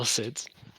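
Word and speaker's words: Cid: It's not Kid. It's Sid from Final Fantasy 14. Boo. Cool Sid's Club. Ooh. There's only a few cool Sids.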